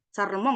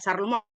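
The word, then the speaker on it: Charlemagne: dia adalah kaisar besar yaitu bacanya Saremong ya kalau enggak salah ya Saremong dalam bahasa Prancis ya Saremong itu dia berhasil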